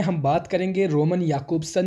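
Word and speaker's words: Jakobson: सबसे पहले आज बात करेंगे रोमन याकूब्सन, जिनके जैकोब्सन भी पढ़ते हैं कुछ, लेकिन इनका जो अगर सही प्रोनाउंसिएशन है that is याकूब्सन। He was primarily concerned with the study of the nature of language, the symbol systems.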